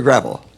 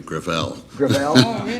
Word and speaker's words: Gravel: chairman I'm sorry thank you okay thank you senator gravel with all due respect let me correct I pronounce ed within my family Gravelle it's a French name thank you I want